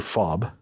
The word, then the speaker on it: FOB: small forward operating base or fob pronounced as in ke fob consisted of our medical